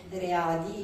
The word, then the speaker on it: RE.A.DY: aderisce formalmente alla rete readi io scandisco sempre l'acronimo proprio anche facendo ascoltare la a Quindi al di là della pronuncia inglese perché è l'acronimo punto